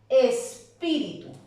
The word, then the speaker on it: espíritu: Hábitat, análisis, recítaselo, espíritu.